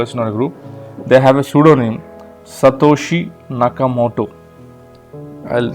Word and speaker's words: Satoshi Nakamoto: They have a pseudonym, Satoshi Nakamoto. I'll spell it for you. SATOSHINAKAMOTO.